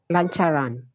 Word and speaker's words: lancaran: Lancaran. Lancaran, correctly now without the H, but pronounced with the H. So you see two words here. It's just to tell you that there is a CH sound.